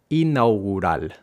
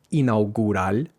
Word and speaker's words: inaugural: Empecemos con una sola palabra, inaugural. Inaugural. El contexto era disputar un partido inaugural. Presta atención a este sonido ra, que no es inaugural, inaugural, sino inaugural. Inaugural inaugural.